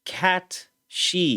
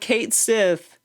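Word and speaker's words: Cait Sith: video peace wait hamaguchi confirms it's actually pronounced cat she y'all not Kate Sith cat shei you know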